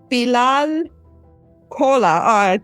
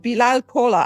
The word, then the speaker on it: Bilal Kola: on my podcast today Bal Cola I was I was actually practicing and now I really said it wrong belal Cola am I saying that correct correct welcome to most memorable